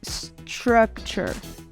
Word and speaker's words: structure: A segunda letra T, que vem junto com a letra 1, vai ganhar um som de TX ou TCH. Ch. Ch. Então, nós falamos structure. Assim como nós usamos na palavra future, culture, structure.